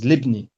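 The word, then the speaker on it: لابن: So it's ibnu, and then it has a lam of possession attached before it, so it becomes libni.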